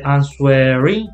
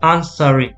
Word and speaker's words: answering: Remember, W is silent. We don't say answering, but answering. Answering.